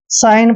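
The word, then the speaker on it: sign: पढ़ा इसको रिजाइन देखिए एस आई जी एन कभी सीगल नहीं पढ़ता है इसको साइन पढ़ते हैं क्यों पढ़ते हैं साइन क्योंकि एन से पहले जब भी जी आता है तो जी का उच्चारण हमने करना ही नहीं है तो इसको साइन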